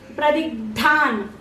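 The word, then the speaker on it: प्रदिग्धान्: Pradigdhan. D is normal. Pradigdhan.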